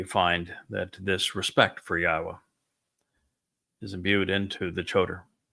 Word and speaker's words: Yahowah: spirit of reverence for Yahwa. He would never change God's name. He introduced God's name. He was the one who recognized that the proper pronunciation was God's of God's name is Yahwa not Yahweh.